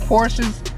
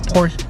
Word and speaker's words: Porsche: music anyone that actually knows Porsche knows that Porsches sorry Kim same course the actual pronunciation is Porsche shut eye actually it's actually pronounced Porsche it's